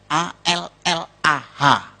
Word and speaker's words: Allah: mejanya beda sama kita kalau kita cukup Allah gitu kayak bercanda ama temen aja alah lu gitu aja tersinggung gitu ya kayak begitu ringan gitu bacanya itu ringan tapi kalau mereka itu terpengaruh dengan bahasa Arab jadi enggak ringan Allah nah gitu Hai kaya